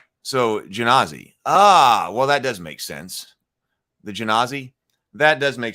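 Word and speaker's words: Genasi: Oh, Grimhild says soft G on Genazi. So Genazi.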